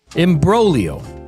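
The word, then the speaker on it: imbroglio: Imbrolio. Fun fact, there's a silent letter in there.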